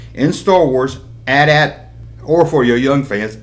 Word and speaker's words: AT-AT: It's the AT-AT Walker. That's right, AT-AT. I didn't spell it out, A-T-A-T. That's just stupid. It's AT-AT.